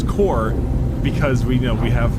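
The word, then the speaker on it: Korps: difficulty with this because it is spelt k-o-r-p-s i'm always terrible as if it's core or corpse that being said i'm imagining its core because we know we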